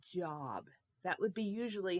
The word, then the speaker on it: Job: it is called job with a nice long o in there job can you say job job good job okay two of the same numbers a 3 and a 3 33 job 33 4.